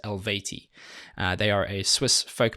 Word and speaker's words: Eluveitie: went onto Google and apparently it is elevate e they are a Swiss